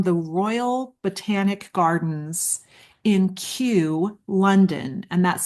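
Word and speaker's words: Kew: Um, and this is actually these statistics are from a study from the Royal Botanic Gardens in Q London and that's spelled K E W.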